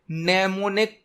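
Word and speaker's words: mnemonic: और assembly language में नेमोनिक code का यूज किया जाता है। नेमोनिक कोड, इसकी स्पेलिंग एम से स्टार्ट होती है, एम साइलेंट होता है।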